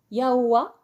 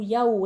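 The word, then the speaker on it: Yahweh: le semnoz d'entrée l'oin se prononce de deux manières yawa ou yahoo et ya signifie celui qui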